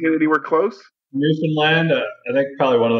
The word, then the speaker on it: Newfoundland: Am I pronouncing it anywhere close? Newfoundland.